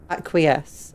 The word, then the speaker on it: acquiesce: Acquiesce.